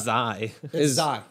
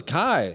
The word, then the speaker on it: chi: you spell that also it's not kai it is kai no you were also an attorney and had to know this it's not zye no it's kai we were in a